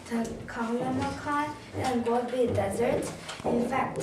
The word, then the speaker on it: Taklamakan: I pronounce Taklamakan and Gobi Desert.